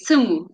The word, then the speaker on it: Semu: So sumu is the Amharic word for listen. Oh, Yeah, how do you yeah. pronounce it? You say sumu. So it's like, so Simu.